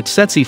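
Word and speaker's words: tsetse: day by poachers number six setsi fly a bike from a setsi fly pronounced si fly is to put it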